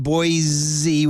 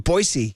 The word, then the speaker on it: Boise: learn over the years it's not boy Z with a z it's boy with a c is it you have to say like people from boisey get pissed if you say boy Z it's like Gonzaga and